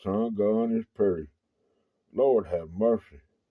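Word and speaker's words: Geaux: big Saints fan so uh those Saints and that's spelled GE Au X so um go s anyway uh let me start y'all off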